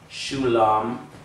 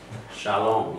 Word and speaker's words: shalom: Just like saying shalom a million times over, you know the vav is an O sound, you just know it. You know it's not shulam, it's shalom.